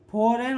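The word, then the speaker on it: foreign: ठीक है, फॉरेन होता है और नॉन होता है। जी साइलेंट है।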